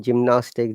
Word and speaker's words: gymnastics: for example egypt gem any word that after gui like gm gymnastics gymnasium gymnast it's always ja sound okay would you like